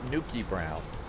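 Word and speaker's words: Newcastle Brown: And you would pronounce it Nuki Brown.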